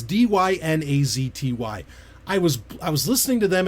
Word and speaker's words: Dynazty: It's Dynazty.